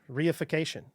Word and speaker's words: reification: Mimedic reification. Is that what it is? Yeah, reification.